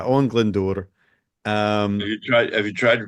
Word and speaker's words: Owain Glyndŵr: I will not refer to him as Owen Glendower, which is what Shakespeare does. Yes. That ain't right. But yeah, Owen Glyndŵr.